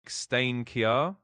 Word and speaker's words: Steinkjer: The Norwegian job is going to Steinkjer. Steinkjer, Norway. I'm not sure if I'm pronouncing that right. Is that right, Miles? You're pretty close. It's actually pronounced more like Steinkjer in Norwegian, but honestly, you're doing great.